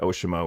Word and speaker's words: Oceamo: Labs Chris from ooshi we were talking about the pronunciation and you were saying that we can say osimo or OSI it's it's kind of up to us but I like oi so that's what we're going to say oi sounds good so